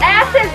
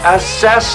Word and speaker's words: assess: view from the top asses the window it's assess the window you put the wrong emphasis on the wrong cabel